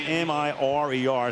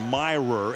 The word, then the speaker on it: Mirer: It's M-I-R-E-R, so he's gone through life with everybody saying Mirer. It's Mirer, as if it was M-E-Y-E-R.